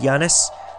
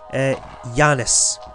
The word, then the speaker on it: Janus: actually get to see Janus. And yes, it's actually pronounced Janus, not Janus. But you can call it Janus if you want, but Janus is better because Janus is female pronunciation.